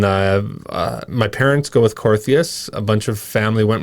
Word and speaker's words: Korthuis: yeah totally yeah um in in holland it would be cortus okay that's the one i got yeah yeah and then uh my parents go with corthias a bunch of family